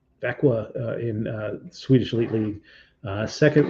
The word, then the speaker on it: Växjö: He's 5'10", 163-pound center playing for, this is a fun town to pronounce, but it's called Växjö. Växjö in Swedish Elite League.